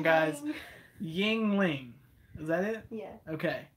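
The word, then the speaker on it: Yuengling: Yingling. Is that it? Yeah. Okay. I say Wingling whenever I look at it. Like, it looks like it would say Wingling.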